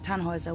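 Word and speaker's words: Tannhäuser: why what's your name Tannhauser we pronounce it tan are with an armload yes these things on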